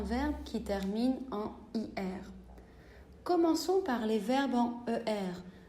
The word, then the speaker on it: commençons: J'utilise un C cédille pour la première personne du pluriel, comme par exemple nous commençons. C'est pour une question phonétique, sinon je devrais prononcer nous commençons.